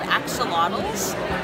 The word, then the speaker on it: Axolotl: Axolotl. Rhymes with bottle.